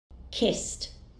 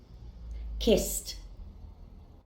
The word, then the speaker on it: kissed: Next, I have the verb kiss, which ends in s. Then the ed ending will be pronounced as t. Kissed, kissed.